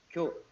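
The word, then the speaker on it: 教: In Cantonese, this would be gao, right? In Korean, it's pronounced as kyo.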